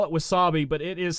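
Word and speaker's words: WASAPI: It's to tell you the spelling, and again, I just call it Wasabi, but it is spelt, hold on here, W-A-S-A-P-I.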